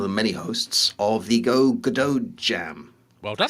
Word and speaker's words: Godot: But we are proudly hosting, or one of the many hosts, of the Godot Jam. Well done. I said it right. Yes. I've been getting that wrong all day. Godot.